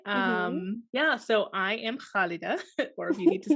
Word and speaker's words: Khalida: an arabic name so khalida yeah so there's this is this sound in the back of your throat that has to be practiced actually yeah i was